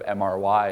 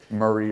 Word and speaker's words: MRY: chief marketing officer of mr why it's not like Marie or Mary or something where I I hear all kinds of pronunciations but it's a digital marketing agency formerly mr.